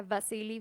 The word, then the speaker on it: Wassily: Para empezar, su nombre se escribe Wasily Wasilievich Kandinsky, pero pues se pronuncia Vasily Vasilievich, porque pues él nació nada más y nada menos que en Rusia.